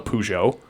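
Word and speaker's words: Peugeot: that's made in france it's called a pujo but it's spelt like plugit and that's what we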